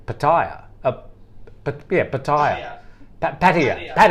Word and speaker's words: Pattaya: pretty close i think how do you say it sumi pattaya yeah i think that's how the thai say it but a lot of uh westerners say pattaya but yeah pattaya yeah